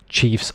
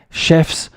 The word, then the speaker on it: chiefs: The pronunciation here is chiefs. Often I have students and they will say chefs, but chef is somebody who cooks your food, as opposed to, let's say, for example, in French, where you say le chef d'entreprise or something like this, the leader, the boss. In English, it's chief. Chef is somebody who works in a restaurant.